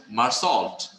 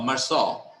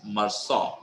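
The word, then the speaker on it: Meursault: UL T in in normal sense you'll say maral but it is maral it is a French name so U don't uh you have to pronounce it uh like uh like the French people does they saw marau okay so the name of the character is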